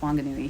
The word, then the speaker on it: Whanganui: of today that the local ewe pronounces it wanganui um they're an ewe that just doesn't pronounce the for the wh so it's spelled whanganui but pronounced wanganui here but farther up north you would say